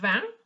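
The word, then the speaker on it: vingt: okay so this one is this set di now remember van in terms of the sound because van also means wine all right continue earth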